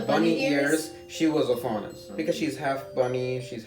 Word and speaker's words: Faunus: and he's talking about faunus. Now, have you guys heard that term before? No. I know It rhymes with jaundice.